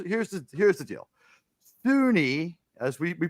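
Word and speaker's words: SUNY: that is here's here's the here's the deal Sunni as we we pronounce it right so we say Sunni uh Sunni State University of New York has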